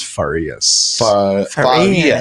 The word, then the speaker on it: Faras: pronounce the last name my last name is faras faras is there a role on the r faras yeah kind of like I would say like in Portuguese is FAS FAS like very English